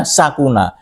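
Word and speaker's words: سكن: Nah ini ada fi'il madinya sakuna juga, sin kafnon, tapi bacanya sakuna.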